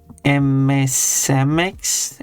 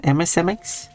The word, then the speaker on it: MSMX: Or is your name pronounced MMX? MSMX. It's actually individual letters.